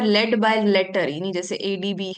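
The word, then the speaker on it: ADB: by letter by letter जैसे एडीबी हम बोलते हैं इसको एज एन एडीबी ए बी एडी बी पढ़ते हैं हम इसे एबड नहीं पढ़ते और प्रोनाउंस एज अ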